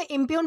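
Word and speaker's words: impugn: दोस्तों इसे इंप्य्यून प्रोनाउंस किया जाता है जिसका मतलब होता है झूठा ठहराना, आरोप लगाना, गलत साबित करना, सवाल खड़े करना किसी पर।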